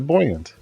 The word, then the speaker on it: buoyant: How would I pronounce buoyant? No, buoyant. I would pronounce it buoyant. But that's because of the ant at the end.